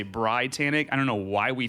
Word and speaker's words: BriTANicK: so i don't know why yeah so everyone pronounces it britannic even though the eye is supposed to be